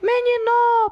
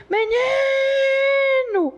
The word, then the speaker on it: menino: Quando a gente dá a palavra menino, você não vai dizer menino, passa para dentro. Não é o no a forte. Você vai dizer menino.